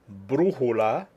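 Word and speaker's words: brújula: me that you remember the stress is where the written accent appears let's go over them again Jose mama Axion Hamas perdon in green Arbol lapis Martinez cancer character bottom line brujola telefono rapido the accent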